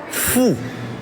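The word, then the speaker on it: 富: rich is foo foo imagine you saying the word Foo now say it like fo that's how you say rich in Chinese Foo fo like Foo Fighters exactly like the Foo Fighters Foo Rich that's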